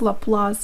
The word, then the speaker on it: Laplace: a few notes here Laplace transform was named after a fringe scholar pierre-simon Laplace and that's why we pronounce Laplace in the French way and also I'd like